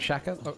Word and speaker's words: Sciacca: Ferren says pronunciation of Sciacca is like Shaka, so like Shaka?